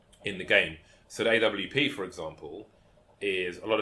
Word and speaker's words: AWP: first used to commentate the Swedes and the Nordics would say AVP right because the way they pronounce W and they would get